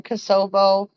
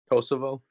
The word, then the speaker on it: Kosovo: thing there's something going on over there in kosovo kasov over crossover kosovo cosa thank you kosovo